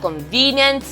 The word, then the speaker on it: convenient: We have convenient. This is where the stress falls on. The stress falls on the second to the last syllable.